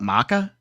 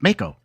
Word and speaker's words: Mako: But Corneo, yeah, but that and they call it Maka. It's Mako. I always said Mako energy. They're saying Mako. Yeah, I was like, then spell it Mako. Mako like a Mako shark.